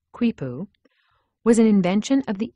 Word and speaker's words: quipu: device that looks like a mop the kuipu pronounced kuipu was an invention of the incas an ancient